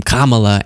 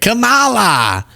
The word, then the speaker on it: Kamala: a lot of use out of that name, Kamala." and pronounces it correctly for the first time after the whole campaign. He was like, "Camala, Camela, Camila."